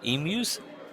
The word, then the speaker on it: emus: Emus? Emus. Use? Mew. But you say mew and not moo.